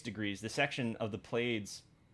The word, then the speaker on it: Pleiades: the section of the Pleiades. I don't know if I'm pronouncing that right. I think it's the Pleiades. Pleiades. Pleiades, Yeah. yeah.